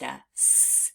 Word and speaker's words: as: by heart that's why we pronounce the word as with the Z at the end now let's practice spelling